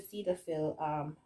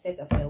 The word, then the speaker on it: Cetaphil: Very jelly, but still, I still use the Cetaphil, or Cetaphil, whatever you guys pronounce it.